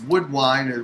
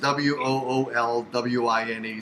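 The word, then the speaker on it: Woolwine: last name is spelt it's wood wine which is wo o LW ine so it's pretty easy wool wine so just check it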